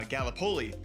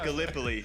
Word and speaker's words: Gallipoli: right because being from Iowa, I said uh Galipoli and it's it is pronounced Gallipoli. Long story short, Gallipoli is covering the Ottoman front, the Eastern front throughout all of this.